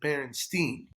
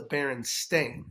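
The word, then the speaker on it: Berenstain: lot of Albert Einstein and so I always pronounced it Berenstein um but it's the bear stain Bears yeah but apparently it's the baron stain s-t-a-i-n h so I mean I remember the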